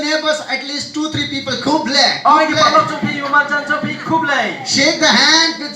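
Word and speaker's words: Khublei: They say Kublai. Kublai. Kublai. Kublai. Kublai. Kublai. Kublai. Kublai. Say your neighbors, at least 2-3 people. Kublai.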